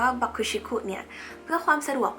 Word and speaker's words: BUCK-TICK: เป็น ค่ะ อ่ะ มี วง บัก บิ๊ก หรือ ที่ อ่าน ว่า บัก ชิคคุ เนี่ย เพื่อ ความ สะดวก